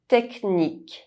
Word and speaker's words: technique: bouche mouth chien dog However, in some words, CH is pronounced [k]: technique technical orchestre orchestra In the alphabet, D is